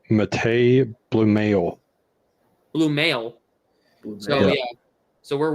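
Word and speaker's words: Matěj Blümel: It's pronounced Matej Bluemail.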